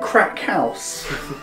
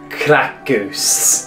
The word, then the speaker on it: Krakus: Are you saying crack house? No, I'm saying Krakus.